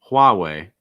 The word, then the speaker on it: Huawei: Then Huawei. Strong H sound to start, and then way, just like WAY. Huawei.